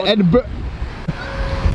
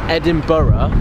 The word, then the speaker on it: Edinburgh: when we reach Edinburgh tomorrow, right?